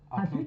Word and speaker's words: à plus: Hint is the shortened version of à plus tard. A plus. A plus. À plus. A plus. A plus tard. À plus. So when there's another word, you don't pronounce the S.